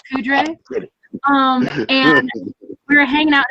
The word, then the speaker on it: Poudre: I believe it's pronounced Powdre. Oh, Powdre, right? Poudre.